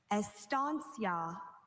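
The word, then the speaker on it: estancia: Estansia. Are there any alternate pronunciations? I have just estia. May I please have the language of origin? This word probably went from Latin to American Spanish.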